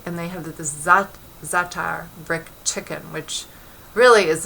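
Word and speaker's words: za'atar: love this ingredient called zatar it spelled za ' ATA are and maybe it may be that thar this may be the better pronunciation so in the minute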